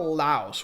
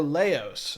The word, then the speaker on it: Laos: But without further ado, today we're going to be talking about Laos, or Laos. I've been told it's pronounced both ways.